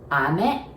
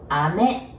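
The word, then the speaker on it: 飴: or autumn and ame so if you say ame it means rain and if you say ame it means candy it writes the same but it pronounce where the accent is is a bit different ame it means candy ame it means rain you hear the bit of difference and now lastly of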